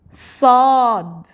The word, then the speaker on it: صاد: Sad. It is a strong s. Let's say simple. Sad, it's strong. Dad.